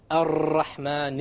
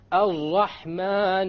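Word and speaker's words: الرحمن: And they'll say, Ar-Rahman Ar-Rahim. I'm exaggerating so you understand what the mistake is. Okay? This is a mistake. You cannot allow the tongue to roll. Ar-Rahman is a mistake. Ar-Rahman Ar-Rahim.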